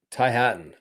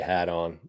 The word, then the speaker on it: Hatton: tie hat on hat Ty Hatton I say hat on because uh some tick tocks I just I didn't mean to pronounce his name like that uh Nikolai hogard Victor